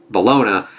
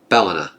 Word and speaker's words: Bellona: uh not balas uh balona uh Bala it is kind of like balona but sorry another pronunciation is going nutty with me on that one I just keep hearing balona not Bellona there we go uh